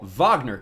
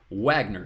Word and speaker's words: Wagner: And this is the school I jokingly call Vagner College. Of course, correctly pronounced in New York as Wagner College.